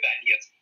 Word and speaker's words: Donetsk: Donetsk se llama, se escribe Donetsk, se lee Donetsk.